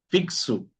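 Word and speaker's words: fixo: El cuarto sonido es el sonido x fixu naxu. Fixu sexu naxu. Obviamente aquí encontramos esa estructura de aquí, ¿okay? Vocal, shis, vocal, al final de la palabra. fixu, sexu, nexu. Estamos.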